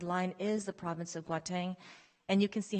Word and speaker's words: Gauteng: I believe they pronounce it Gauteng over there.